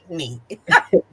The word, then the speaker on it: Anthony: and I'm probably conf he said anony that's right I'm saying it wrong you're right he's correcting me you're supposed to say Antony I love Anthony Hamilton